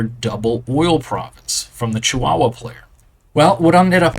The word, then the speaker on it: Chihuahua: My wife and I were looking at this, and she started laughing at me because it's pronounced Chihuahua. And I did not realize, my apologies, you can laugh at me in the comments.